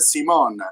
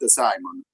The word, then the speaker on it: Simon: So okay Nikolola and the the pronunciation of my name it's French. It's Simon. It's not Simon.